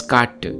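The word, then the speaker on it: കാറ്റ്: So wind in Tamil is katr, but in Malayalam it's katt, a sound that is closer to Old Tamil.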